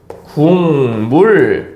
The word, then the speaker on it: 국물: 있다고 해봅시다 자 여러분들 우리 이거 국물이라고 발음하지 않고 정확하게는 궁물 요런 식으로 발음을 하고 있거든요 자 그러면 여기에서 봤을